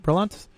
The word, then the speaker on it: Berlantes: guy who wrote the bad movie, Greg Berlantes, how's that pronounced? Yeah, Berlantes.